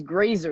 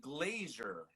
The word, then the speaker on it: Grazer: to call me grazer there's no I there's no i but I used to call you glazier I've never had my